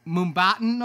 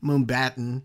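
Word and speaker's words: Mumbattan: They end up in the realm of Spider-Man India in, how would you pronounce that? Mumbatan? Okay. Yeah, Mumbai and Manhattan together.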